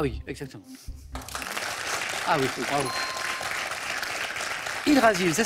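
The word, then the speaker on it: Yggdrasil: Hydrasil, ça s'écrit I-2-G.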